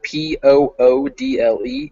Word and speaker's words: poodle: that one more time and remember the word p-o-o-d-l-e is poodle whereas p-u-d-d-l-e is puddle okay they